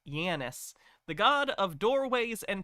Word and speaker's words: Janus: It's named after the Roman god Janus, pronounced Janus, the god of doorways and passages.